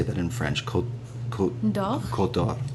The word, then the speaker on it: Côte d'Or: Côte d'Or.